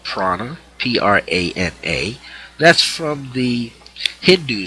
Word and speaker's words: prana: of a better word has also been called Prana p-r-a-n-a that's from the Hindu side you study